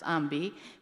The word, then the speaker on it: AWMB: I'm CEO and founder of Excel Supply Company, as well as the founder of AWMB, pronounced as AMBI, which is the Association of Women and Minority Businesses.